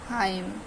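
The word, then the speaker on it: hymn: एन के silent letter यदि एम के बाद एन आ जाए तो एम एन जो है एन साइलेंट लेटर हो जाता है जैसे की ऑम कॉलम कंडेम डम हाइम तो इसमें क्या हमारा एम जो सॉरी एन जो था हमारा साइलेंट है एम के बाद एन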